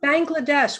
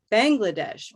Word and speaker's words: Bangladesh: Bangladesh, Bangladesh. Hard to say. I would say Bangladesh. So bang is definitely going to have a little minor stress.